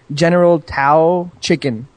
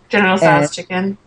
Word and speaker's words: General Tso's chicken: all I order is General Tao chicken. General Tso's chicken. You couldn't even pronounce it right.